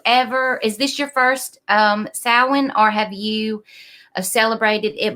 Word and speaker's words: Samhain: Sam is actually spelled like Samhain but it's pronounced salan I've heard it pronounced so in but it's the majority is salan or someone I am doing research this year